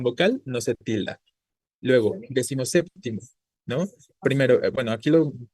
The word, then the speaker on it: decimoséptimo: Entonces qué hemos dicho décimo pierde su sílaba tónica y solo la conserva el segundo componente séptimo entonces la palabra decimoséptimo sigue siendo esdla o